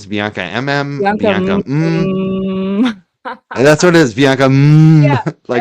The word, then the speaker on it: BiancaMMM: Bianca 3 Bianca MM That's what it is.